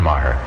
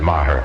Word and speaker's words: Maher: I wonder if that's relation to John Maher. No, he spells his name meager and pronounces it Maher. This is Maher, spelled Maher.